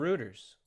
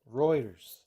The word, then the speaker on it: Reuters: 10-year-old that's been watching Fox News and Ruters. Remember I said I got You can't even pronounce the name right. Reuters.